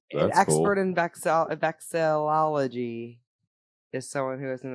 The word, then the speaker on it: Vexillology: Vexology.